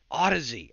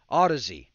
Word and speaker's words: Audeze: check out the mobius odyssey i said it wrong and i just knew i had it right audeze mobius let's check him out